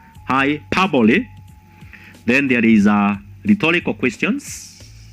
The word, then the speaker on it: hyperbole: The intonation is on the syllable pa, hyperbole.